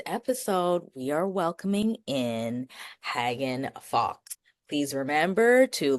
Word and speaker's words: Hagen: Hagen.